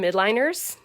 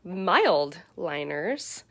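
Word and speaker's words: Mildliner: test that we did i called them mid liners they are called mild liners they are creative marking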